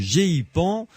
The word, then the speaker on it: GEIPAN: est le directeur du gipan pas facile à prononcer g e I p a n peut dire gpan tout simplement GP voilà d'accord qui